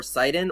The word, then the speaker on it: Sidon: For the longest time, I didn't know how to pronounce Sidon's name, whether it was Sidon or Sidon or Shedon. But then I thought about it. Sidon, Poseidon.